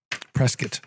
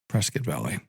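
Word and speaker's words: Prescott Valley: Prescuit, you have to say it correctly. So, thank you, Steve. That's encouraging. Prescuit Valley.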